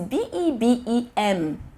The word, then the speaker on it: Bebem: Like, I'll go to market, I'm seeing this thing, it is B-E-B-E-M. Bebem, that's like my baby. Yes, that's my baby. Bebem, guys, is that so?